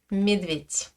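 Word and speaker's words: медведь: Voici la forme écrite de l'animal. Et voici ce que je prononce. Medvit. Medvit. Je prononce bien un te merkne. À la fin.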